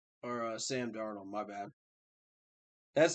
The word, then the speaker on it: Darnold: no doubt but um so let's talk about dan arnold or sam darnold my bad that's how you can tell it's